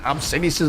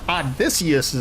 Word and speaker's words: Odysseus: It's not Obsidious' bow, it's Odysseus' bow.